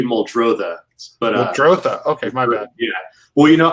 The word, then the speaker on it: Muldrotha: recent project is called moldova right that's that's i'm saying it correctly uh it's actually moldrotha okay yeah well you